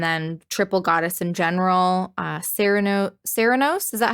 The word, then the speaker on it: Cernunnos: Ceranos, is that how you pronounce it? I know that's one of your guys, right? Some people say Cernunnos, but it's Cernunnos to me.